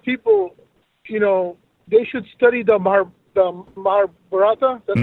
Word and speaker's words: Mahabharata: And I feel that a lot of people, they should study the Mahabharata.